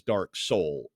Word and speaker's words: DarkSeoul: uh my favorite is Dark Soul which is spelled SE o l you know like Soul South Korea yeah get it I